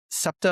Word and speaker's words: SEPTA: say a reasonably easy city to walk, but SEPTA, am I pronouncing that correctly?